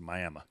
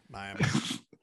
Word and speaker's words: Miami: Do have a town here that is spelled just like Miami, Florida, but it's pronounced Miami. Miami.